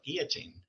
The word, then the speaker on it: guillotine: Guillotine. It's very beautiful. And I like to pronounce it without the L sound, the guillotine. That way the L's themselves become lopped off of the word.